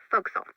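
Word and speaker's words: forecastle: ship but it's pronounced Folk Soul why is that try pronouncing it like an English sailor with no formal education Castle overtime at whittled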